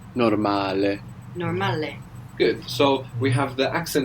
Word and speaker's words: normale: So we have the O giving us an O sound, like in orange, and the A is pronounced A.